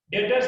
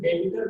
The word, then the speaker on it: debtors: डेटर्स DEBTORS, B silent है, इसमें डेटर बोलते हैं, डेबिटर नहीं बोलते हैं।